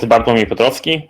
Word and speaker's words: Bartłomiej Piotrowski: on whether you live um my name is bartomi petrovsky and just as regina said it's most likely not pronounceable to you so um just feel free